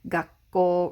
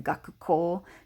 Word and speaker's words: 学校: physical school building and the magic that happens when you get a ku and ako next to one another is that the coup typically goes away or the first of the two k sounds goes away so we get gakko rather than gaku ko because gakuko is just